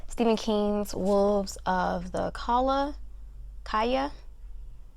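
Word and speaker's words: Calla: A next book here I have Stephen King's Wolves of the Kaya. I want to pronounce it in like the Spanish way.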